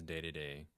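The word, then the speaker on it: Dedede: day day I think in Japan it's an it's pronounced more so as day to day than King D here I think yeah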